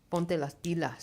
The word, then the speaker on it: ponte las pilas: time they leave, you need to have them ready for college or trade, and they need to start to ponte las pilas.